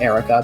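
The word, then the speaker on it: Eirika: air like if you you pronounce e it's pronounced air there Erica let me check something her her like skill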